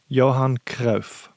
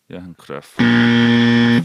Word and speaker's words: Johan Cruyff: Johan Cruyff. Johan Cruyff.